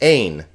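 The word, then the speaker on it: ἦν: It's not pronounced, so this is just arche. Another smooth breathing mark is just ein.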